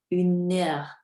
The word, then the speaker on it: une heure: Dans la première ligne, une heure avec l'accord. Le deuxième syllabe, c'est en fait le N du premier mot avec tout le deuxième mot.